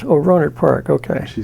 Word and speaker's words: Rohnert: When I moved here, it might have been 50 or 60 people living in Rohnert Park at the time.